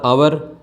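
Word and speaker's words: hour: एच ओ यू आर आवर एच ओ एन ओ यू are owner यह कुछ शब्द है तीन शब्द जिसमें य एच साइलेंट रहता है इनके नाम के आगे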